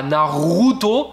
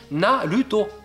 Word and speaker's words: Naruto: Le R, c'est simplissime. Vous remplacez le R par la lettre L dans votre tête et vous le prononcez. Vous voyez écrit R-A, ça fait la. Donc par exemple, on dit pas Naruto, on dit Naruto.